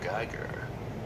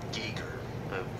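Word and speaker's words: Giger: this xenomorph and it's fantastic design by h.r geiger or geeker well point is the alien girl you can pronounce his name right he's a very good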